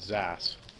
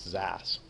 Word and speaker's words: xAAS: service I like Zas X is a service pronounce Zas what do you think